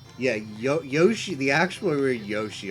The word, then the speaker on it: Yoshi: the actual we Yoshi although it's almost always pronounced Yosh which is just like sometimes sometimes syllables with that have eyes and U's can just sort of like attach drop the I and the U and attach the syllable